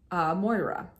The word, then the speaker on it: Moira: I always want to say that name, Mora, because I went to school with a girl who spelled it that way and called it and pronounced it Mora, but a lot of people say Moira.